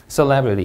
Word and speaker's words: celebrity: celebrity, 이 음절 강세.